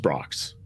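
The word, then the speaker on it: Brach's: I Well, you know, a just a tasteful note, it's pronounced Brocks, but it's okay.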